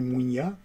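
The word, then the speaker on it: muinia: Et on va utiliser la mutation Mouinia chez les Guadéliques, les Gaéliques, ils vont dire Mouinia. Et ça s'écrit avec M-U-I-N-I-A.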